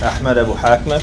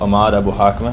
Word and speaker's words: Ahmed Abu Ahmed: For those who struggle pronouncing the throat letter ha, which is non-existent in the English language, you can pronounce it in the anglicized form of Ahmed Abu Ahmed, which most people say.